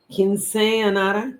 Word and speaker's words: Quinceañera: And then there is, I believe it's pronounced Quinceañera, quinceañera, quinceañera.